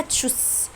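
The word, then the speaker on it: Tschüss: غير رسميه بقول له تشوس يعني باي. تشوس. واحنا اتفقنا ان الاس تي ها اللي بيجي في النص معناها اش، معناها شين، بتتنطق شين سوري.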